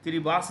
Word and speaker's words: Kiribati: And if you split into eastern and western, some islands of Kiribati or Kiribati. Kiribati is the local pronunciation.